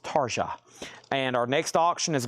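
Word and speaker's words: Tarja: That's T A RJ A. I think that is pronounced Taria.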